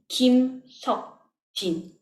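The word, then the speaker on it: 김석진: The last syllable of Jin's name is Jin. 치, 이, 는, 친. Kim Sok-jin.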